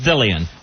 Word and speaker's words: DeLeon: But there it's pronounced Dillion.